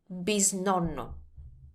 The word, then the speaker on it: bisnonno: That in Italian is bisnonno.